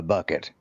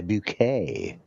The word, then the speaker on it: Bucket: that I mean, her her last name there was was spelled B U K E T and her husband went by bucket, but she was too good, so she went by bouquet.